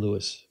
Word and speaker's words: Lewis: Jan Lewis, who pronounced her name Lewis.